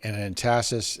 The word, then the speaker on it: entasis: Okay, so entasis, it's spelled E-N-T-A-S-I-S. And I've heard the enunciation entasis and entasis, and both I think ways it's your emphasis is on the wrong syllable.